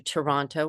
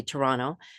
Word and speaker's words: Toronto: My path led me to Toronto, which is a great, I still say it wrong. I'm supposed to say Toronto, no second T.